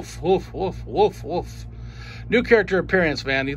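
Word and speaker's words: Wulf: character called wolf and it is spelled w-u-l-f so wolf wolf new character appearance man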